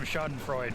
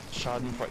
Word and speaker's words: Schadenfreude: to do some schadenfreude to the enemy team dying to them. Exactly. I think I pronounced that right. Schadenfreude.